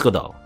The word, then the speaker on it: Godot: godo good all right I think it's good all like Waiting for Godot you know the infamous